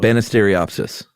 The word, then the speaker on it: Banisteriopsis: Yeah, but it's pronounced like it looks. Yeah, though. Banisteriopsis.